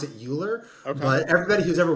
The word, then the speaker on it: Uhlir: I pronounce it Uhlir, Okay.